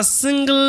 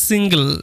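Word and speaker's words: single: সময় দেখতে পাও যে জি এলই এরকম ভাবে শব্দ শেষ হচ্ছে এটার উচ্চারণ করবে গল গল এরকম ভাবেই কারণে সিঙ্গেল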